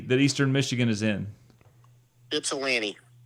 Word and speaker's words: Ypsilanti: welcome Detroit Dave how the hell do you pronounce the city that Eastern Michigan is in Ypsilanti Ypsilanti that ain't no Gypsy what